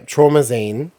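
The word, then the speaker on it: Traumazine: you say it yeah oh like limousine but trauma oh well like a like trauma magazine I guess is like the concept but what that yeah trauma Zine is the second record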